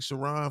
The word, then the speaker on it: Sharon: because I don't take shiron for an I mean his name is shiron and it's spelled Sharon you can't really be